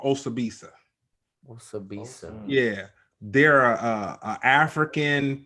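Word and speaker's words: Osibisa: But yeah, Osabisa. And it's spelled the way that it sounds. Yeah. Osabisa.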